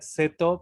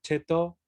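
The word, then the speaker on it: ceto: escribe seto, pero se pronuncia cheto, o chit, Ah, sí.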